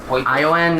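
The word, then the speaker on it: Ioun: I-O-N? A-I-O-N? I-O-U-N. Ion? So I think that's how they pronounce it.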